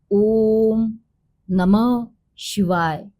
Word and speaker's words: ओम नमः शिवाय: For example जैसे मैंने बोला आपको ओम नमः शिवाय, ओम और नमा में जो गैप आता है वही नमा और शिवाय में आना चाहिए। जो डिस्टेंस और ड्यूरेशन है सेम ड्यूरेशंस रहने चाहिए।